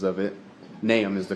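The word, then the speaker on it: Nahum: in this trial sir there's a lot of pronunciations of it naam is the correct way and n a h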